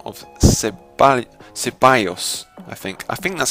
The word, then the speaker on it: Ceballos: by the name of Ceballos, I think that's how you pronounce it, because he is Spanish, so the double L is pronounced a bit differently because it is Spanish.